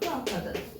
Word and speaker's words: lâmpada: Agora, faz de conta que o nosso cachorrinho se chama lâmpada. E daí eu chamo lá o meu cachorrinho: lâmpada, lâmpada. E aí, qual que é a sílaba tônica? O lã.